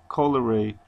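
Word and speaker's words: colere: tended to cultivate from the um the proper pronunciation Coler meaning to tell that's what the word means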